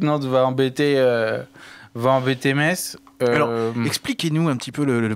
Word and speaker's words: Metz: Metz. Metz, pardon. Jean-Michel, correcteur d'orthographe de prononciation Metz.